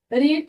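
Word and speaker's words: read: हमारा वो है रीड रीड का सेकंड फॉर्म होता है रीड लेकिन इसका जो थर्ड फॉर्म होगा वो होगा रेड स्पेलिंग आपकी सेम रहेगी लेकिन जब हम उसको बोलेंगे तो हम उसको रेड बोलेंगे अब इसका नाम रेड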